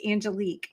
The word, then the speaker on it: Angelique: actually pretty close it's Angelique but that's okay everybody love it Angelique love it everybody mispronounces it because it's spelled Angelic ah I love that